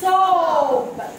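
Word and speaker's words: soup: دي وخدنا الكلمه دي تعالوا نشوف الفرق في النطق ما بين الكلمتين دول ها شرفه دي شرفه دي صابون دي اسمها سوب سوب دي صوب صوب دي ايه سوب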